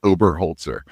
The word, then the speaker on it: Oberholtzer: Um, it's uh it's Mike Ober Holtzer. It's just how it spells, but it's, you know, a lot of syllables there.